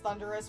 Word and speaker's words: Thundurus: tornadoes and thundurus and i know it's pronounced thunderous but i i it sounds cooler to pronounce the thunders especially since their names